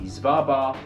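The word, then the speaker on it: Svalbard: i checked that yes this place is the zvarbar seedvault this room is known for many things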